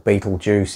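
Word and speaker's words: Betelgeuse: alignment star was the style battlegrounds or beetlejuice if you like to pronounce it that way in orion and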